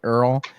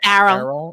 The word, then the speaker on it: Errol: So Elon's father was this guy named, I don't know how to pronounce that, so I'm going to say Earl, but that makes me think of Earl the dinosaur. It's Errol.